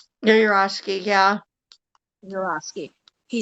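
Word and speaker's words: Yourofsky: It's like, well, then, Gary, how do you pronounce his last name? Urowski? Yurosky, yeah.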